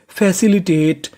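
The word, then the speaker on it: facilitate: एफ ए इसे पढ़ेंगे फै सी आई सी फैसी एल आई ली। फैसिली टी ए टी ई इसे पढ़ेंगे टेट। क्योंकि इ का उच्चारण करना नहीं तो मीनिंग बनी फैसिलिटेट।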